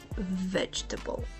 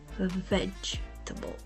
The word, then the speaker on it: vegetable: two if you want vegetable emphasize the Rhythm and stress only the first syllable veg and keep the others light theable vegetable vegetable next word comfortable